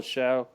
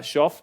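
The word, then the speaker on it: Shough: K Mo Jackson Dart Tyler Sha show I think they pronounce it sha that's not even a pronunciation I would have thought would have happened there shuff Jaylen Milro Dylan Gabriel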